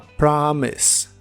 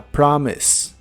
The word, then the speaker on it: promise: que significan una promesa la o de la palabra promise se puede pronunciar como una a profunda a promise a promise y usaremos la palabra